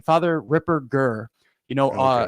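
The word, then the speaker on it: Ripperger: strong German name father Ripper G you know a a hard G not a soft G Ripper Jer and you know it's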